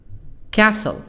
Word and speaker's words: castle: for a palace palace castle castle teehee silent tea silent castle house building building furniture